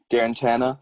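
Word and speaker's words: Guarantano: do you say his last name irrigator guarantee guarantana thank you um they've they've got a bright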